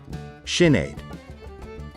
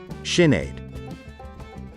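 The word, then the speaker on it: Sinéad: ashling once again ashling how exactly do we pronounce this name shin aid let's repeat shin aid once again sinead we're going to learn on how to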